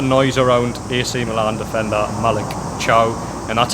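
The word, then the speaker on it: Malick Thiaw: a lot of noise around AC Milan Defender Malik chow and that's how he pronounced it because that's how he watch watch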